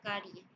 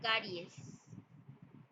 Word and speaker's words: caries: lo correcto también car tengo una carie eso es incorrecto lo correcto es decir caries la palabra conexión con